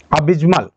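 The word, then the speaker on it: abysmal: अबिज्मल। यह अबजमल जो वर्ड है अब आप बहुत से लोग इसको प्रोनाउंस ही नहीं कर पाते हैं तो कैसे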